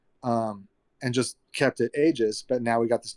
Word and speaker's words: Aeges: to pronounce it either the only reason we call it ages is because it was a-g-e-s before that so it's it's kind